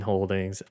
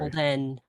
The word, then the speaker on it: Holden: want to call it uh fine that's Dean Holdings Holden we'll do it holding sorry Holden h o l d n get it right